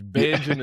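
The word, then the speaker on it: Bajan: And for people that don't understand the Beijing sensation cuz a lot of people's like they spell it like the color beige. Beijun is just slang term for Barbadian, right?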